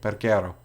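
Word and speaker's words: Peguero: Perguero.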